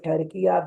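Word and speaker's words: Türkiye: If we say Pakistan, if we say Turkey despite of Turkiya, that means that we have wrongly pronounced the name.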